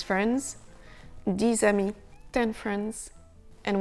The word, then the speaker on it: dix: 10 amis, 10 friends. And when it's followed by a consonant, the letter X is simply not sounded.